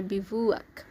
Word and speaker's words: bivouac: অস্থায়ী শিবির, অস্থায়ী আবাস বা খোলা আকাশের নিচে রাত কাটানোকে ইংলিশে আমরা বলতে পারি বিভুক। এটি একটি noun spelling B আই ভি ও ইউ এ সি বিভুক রসিক কৌতুকপ্রিয় বা হাস্যরসপূর্ণ কিছু বুঝাতে আমরা বলতে